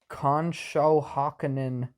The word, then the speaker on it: Conshohocken: see up their middle album um recorded in conshohockenin yep that's how you say it Pennsylvania for